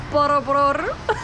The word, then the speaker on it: Borobudur: temple in the world, Borobudur. Hopefully I pronounced that right. Our driver, Yos, was like, you gotta roll your R. So, I mean, I gave it my best shot.